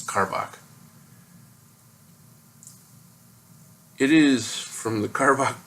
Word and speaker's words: Karbach: say this work correctly it's either car Bosch or car bak its car bak it is from the